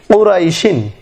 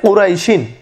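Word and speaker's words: قريش: আর যদি অফ করা হয় লিইলাফি কুরাইশ এভাবে, তাহলে এই কুরাইশ এখানে কটা নিয়ে আসা হয়েছে এই কপের বিপরীতে, সুতরাং উচ্চারণের সময় কুরাইশ এরকম হবে। আর শিন যে লেখা রয়েছে কুরাইশিন, এখানে আমরা সাধারণত অফ সময় লিইলাফি কুরাইশ এইভাবে পড়বো, কুরাইশিন পড়বো না।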